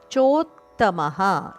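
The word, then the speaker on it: ಚೋತ್ತಮಃ: ಯಸ್ಮಾತಕ್ಷರ ಮತಿತೋಹಂ ಅಕ್ಷರದಪಿಚೋತ್ತಮಹ ಅಕ್ಷರಾದಪಿ ಚೋತ್ತಮಹ ಚೋತ್ತಮ ಚೋ ದೀರ್ಘ ಅದ ನಂತರ ತ ಕೆ ತ ದ ಒತ್ತು ಹಾಗೂ ಮ ದ ನಂತರ ವಿಸರ್ಗ ಮ ಹರಸ್ವ ಅದಕ್ಕೆ ವಿಸರ್ಗ ಅತೋಸ್ಮಿ ಅತೋಸ್ಮಿ ತೋ ದೀರ್ಘ ನಂತರ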